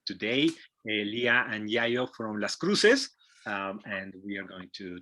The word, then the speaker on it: Las Cruxes: the air uh is that the name is pronounced las cruces uh but it's spelled with an x is